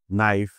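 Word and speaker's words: knife: যেমন খেই আর এন যখনই খেই এর পরে এন থাকবে খেই চুপচাপ হয়ে যাবে যেমন নাইফ not know double you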